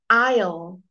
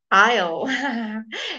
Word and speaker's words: aisle: well this morning okay so the silent letter s Isle Isle you walk down the